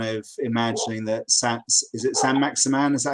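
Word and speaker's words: Saint-Maximin: It's interesting that neither of you are kind of imagining that is it San Maximan? Is that how you pronounce it?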